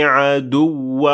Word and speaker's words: عَدُوّ: So here we said عَدُوّ. We did not say عدو. And we did not say عدو, because that would mean that there's just one waw at the end of the word, while there is two.